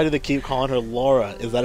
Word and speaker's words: Lara: her Laura is that an American thing I guess it is I guess it is an American to say Lara it's La Laura Laura Laura Laura we just want to make sure to say it right people oh my God